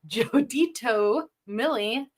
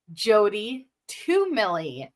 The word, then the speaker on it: Jody to Millie: You will always be Jotito to me, but I have recently learned it is Jody to Millie.